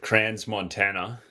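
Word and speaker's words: Crans-Montana: The S is silent. Brother Montana in In America, we pronounce it cran Montana.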